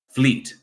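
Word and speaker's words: Vliet: from Fleet foreign Fleet so that that V is like an F yes Fleet okay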